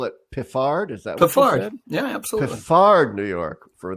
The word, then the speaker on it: Piffard: say you know but we're famous for these unpronounceable place names larry oh piffard isn't it really all these years i've been calling it piffered it's located about five miles from a town